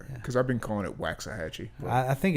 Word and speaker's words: Waxahachie: Is that how you pronounce it? Okay, because I've been calling it Waxahachie.